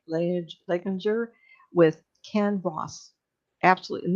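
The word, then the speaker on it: Leininger: The parents, Bruce and Andrea, and and how are they pronounced last name? Like Leginger with Ken Ross.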